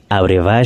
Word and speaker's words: Abrevaya: cet artiste il s'appelle ramiro areva yahoo via areva c'est comme ça que lui le prononcer donc on va découvrir une autre chanson